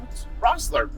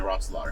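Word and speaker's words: Rosslare: this video in uh rosslar Harbor which is Rossler Mike was pronouncing rockslaughter really yeah okay and uh we're catching an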